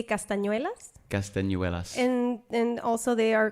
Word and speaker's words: castañuelas: How do you say it in Spanish? Well, we say castañuelas.